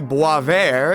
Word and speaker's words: Boisvert: recently found a channel named _Boisvert, or pronounced correctly Boisvert, and I'll admit I'm a little late to the game.